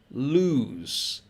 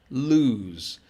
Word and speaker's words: lose: second one here is lose lose so you have a zed or a z sound as americans would say so loose and lose